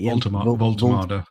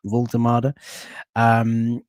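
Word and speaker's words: Woltemade: How do you pronounce it? Voltemade. Voltemade, who has scored already in the barcode kit there.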